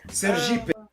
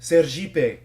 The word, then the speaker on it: Sergipe: Sergipe, because, in Portuguese, ser means be, and Jeep is how you pronounce it.